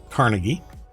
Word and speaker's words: Carnegie: was first owned by Carnegie or carnegi um I think is the proper pronunciation then it was purchased